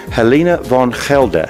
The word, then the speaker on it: Helena Van Gelder: in the Netherlands, and I have with me Helena Van Gelder. Yes, is that how you say your name? Yeah, great, you pronounce it perfectly.